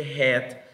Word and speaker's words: head: acá luego está Head Recuerden que Head la H tiene pronunciación luego luego es cualquiera luego